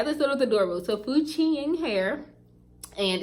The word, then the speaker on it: FQNING: It's FQNING. And the only reason that I know that, because I was honestly pronouncing it like effing, basically.